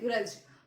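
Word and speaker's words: grudge: Okay, इसको read करते हैं ग्रज. तो क्यों ग्रज नहीं बोल लेते हैं, ग्रज पढ़ते हैं इसको, क्योंकि डी जो है हमारा यहाँ पर साइलेंट होता है.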